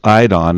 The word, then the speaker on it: Eidon: I don it's called it's pronounced I don and that's a Greek word and it means to